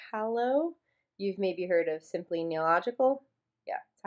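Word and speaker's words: Simply Nailogical: If you guys like Holo, you've maybe heard of Simply Neological.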